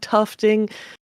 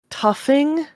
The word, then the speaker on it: tufting: Uh, Guinness does really cool things, two in particular, which is rug tufting. Toughing. Tufting. Yeah, you had it right. Tufting. Okay. Sorry. I was like, is this silent?